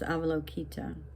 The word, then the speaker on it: Avalokita: So another name for Avalokiteshvara, the bodhisattva of compassion, is Avalokita.